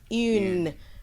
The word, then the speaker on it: une: And then une, which has e, you see the pronunciation is une.